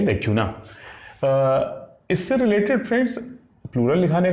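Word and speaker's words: lacunae: दोष, कोई यानी कोई चीज बीच में अधूरी रह गई है उसको हम लोग बोलते हैं लैक्यूना।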